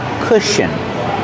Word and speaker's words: cushion: Pronunciation, the first vowel makes a short sound like book and look. Together, cushion. Sh. Together, cush. Cushion. The last syllable is a relaxed sound.